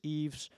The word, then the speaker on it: Ives: so my name is Eva's and this is a bit hard to pronounce so you can also say I've Eve Eve I think Eve is more applicable here my friends even call